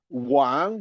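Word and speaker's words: 王: And I would like to end by the fact that Wang, the king, is a homophone with another word, Wang, pronounced at the third tone. Wang king is pronounced at the second tone.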